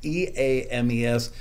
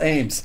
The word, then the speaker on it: Eames: And Ames is actually spelled E-A-M-E-S. Everybody mispronounces it. His own mother calls him Michael Eames, but it's actually Michael Ames.